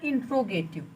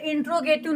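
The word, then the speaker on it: interrogative: काफी लोग भी बोलते हैं इंट्रोगेटिव, लेकिन ये इंट्रोगेटिव नहीं होता है, इंटेरोगेटिव होता है। क्या होता है, इंटेरोगेटिव। इसको, इसका जो एकदम सही प्रोनाउंसिएशन है वो है इंटेरोगेटिव, ठीक है, समझ लीजिएगा।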